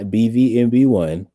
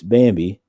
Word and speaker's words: Bambi: y'all but it's not it's not BV mb1 it's Bambi I spell it like that